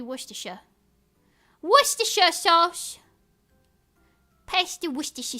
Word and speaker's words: Worcestershire: I was saying Worcestershire. But I was pronouncing the Shire. It's supposed to be Worcestershire.